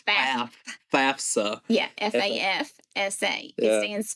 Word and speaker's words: FAFSA: Everybody, I hear people say FAFSA. No, it's FAFSA.